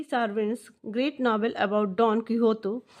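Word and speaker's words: Quixote: This is an extract from मैगविल डी सार्विन्स great novel about don Kihoto. Pronounce यहाँ पे क्विक्सोट है यानी कि किहोते इसको पढ़ा जाएगा.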